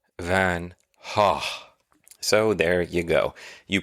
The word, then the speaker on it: van Gogh: Van Gogh is more of a UK thing, but the Dutch pronunciation is the correct pronunciation, and it is more Vincent van Hah.